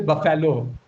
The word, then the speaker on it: buffalo: You drop the a sound over here. You don't pronounce the a sound. What does it become? It becomes the sh sound.